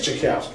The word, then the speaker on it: TchiaKousy: can't say my name man but it is chowski it is chowski it's easy I say something